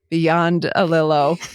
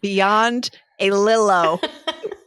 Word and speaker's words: Biondolillo: And then you told me how phonetically it's pronounced. And I have it in my notes, Beyond a Lillo.